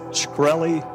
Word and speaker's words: Shkreli: chairman is it pronounced shkreli yes sir see there you can't